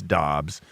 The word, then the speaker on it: Dobbs: Spelled, it looks like Dubs more than Dobbs. Yeah. Dobbs is like D-O-B-B-S.